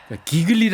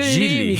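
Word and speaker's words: Gigli: 것 뿐인데 우연찮게도 어이 쥐가 쥐 발음을 기글리 아고 하면 안 된다 질리 질리 미그노 미용 요렇게 발음을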